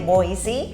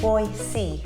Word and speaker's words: Boise: the next one is we have been calling it noisy but it's actually Boise here's the next one